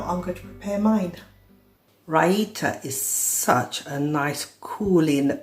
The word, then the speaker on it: raita: And Raita, and that is exactly how you pronounce it, it is Raita.